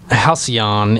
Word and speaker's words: halcyon: would like cio and you would think see on would be the pronunciation but every once in a while there's just like a word where it just flips that whole pronunciation on its head um halcyon it means